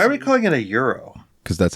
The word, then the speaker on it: gyro: on it why are we calling it a Euro cuz that's how it's pronounced Greek I don't know why it's pronounced that way because it looks like it should be gyro or guo Toro yo Del Toro Euro Del